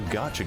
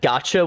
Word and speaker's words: gacha: grasp, which means that I legit thought that gotcha was spelled like G-O, like C-H-A, like it's gotcha. Because I thought that was the joke people were making, is that it's gonna get your money. It's gotcha. I was wrong.